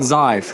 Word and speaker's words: Zive: Zeve, that's how you say it. No, we we call Zive.